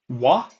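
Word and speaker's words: は: We have also ha is sometimes actually pronounced as wa, and wo is pronounced as o sometimes. And that happens both times. When that happens is when they are particles, right?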